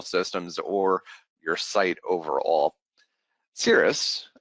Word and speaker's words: Siris: or your site overall cirrus as it's known is uh palindrome it's spelled the same way forwards and backwards just a little bit of history in the naming convention it sounds like the type of cloud but it's uh spelled